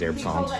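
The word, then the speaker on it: Herbsaint: with an anisette called herb saint. That's what you're talking about. Well, it's probably the proper pronunciation is herb saint because it's French.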